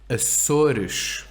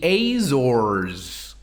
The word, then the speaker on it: Açores: So here are some words with S's at the end of syllables. The islands. Açores, Açores. right? Known in English as the Azores.